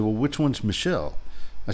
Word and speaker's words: Michel: of ours Michelle uh Michelle it's a it's a man's name in French spelled different but pronounced the same as the woman's name anyway we were talking